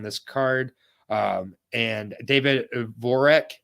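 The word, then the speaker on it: Dvořák: card um and David voreck not Dvorak David vorick there's no D you don't pronounce the d at least uh versus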